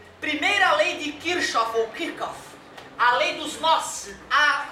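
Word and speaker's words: Kirchhoff: Isso é chamado na física de primeira lei de Kirkof. Kirkof. É o eu lia até pouco tempo atrás Kirsov, que é como se escreve Kirchof é um russo, dois Hs e dois Fs.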